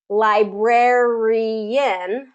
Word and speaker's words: librarian: And that can kind of sometimes get tricky with the rarey, librarian. So we have an extra syllable there. Librarian. So second syllable stress on that one.